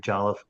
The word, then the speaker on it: jollof: We talked about Oni touching base on the Nigerian Jollof. Am I pronouncing that right, by the way?